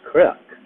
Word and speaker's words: Krek: Um, my last name is pronounced Krek, Krek, like if you would say correct, but it's pronounced Krek, still Krek.